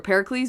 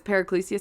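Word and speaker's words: Paracelsus: a footnote about the I think I pronounced it par paricus or Pericles but it's paricus so p a r a c LS u s was the um person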